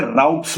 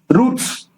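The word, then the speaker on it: routes: तो ब्रिटिश में उसको राउट्स बोलते हैं, और अमेरिका में आप चले जाओगे तो स्पेलिंग यही है, मगर उसका बोलने का तरीका, प्रोनाउंसिएशन अलग हो जाता है, उसको रूट बोलते हैं। रूट्स एंड राउट्स both spelling सही है, बट प्रोनाउंसिएशन वो कंट्री टू कंट्री वेरी करता है।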